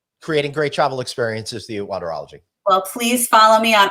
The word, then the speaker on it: Wanderology: It's wander, as if you're wandering around, which is an art, right? And ology, which is a science.